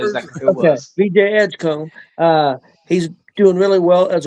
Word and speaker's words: Edgecombe: VJ Edgecombe. Edgecombe. Oh, that's what I was going to pronounce it.